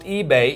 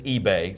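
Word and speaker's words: Ibe: It is pronounced eBay, even though it's spelled I-B-E. I looked it up. It is eBay, so that is the correct pronunciation.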